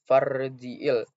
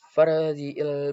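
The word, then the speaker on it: فارجع: Selanjutnya farji'il. Nah, pada huruf ro itu sukun dan dibacanya takfim karena ro sukun didahului oleh yang berharokat fathah maka dibaca tebal.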